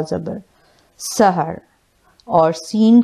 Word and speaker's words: سِحْر: ज़बर हा रॉ ज़बर सहर, और सीन की ज़ेर के साथ जो इस्तेमाल होता है वो है सीन हा ज़ेर सेह और रॉ सेहर।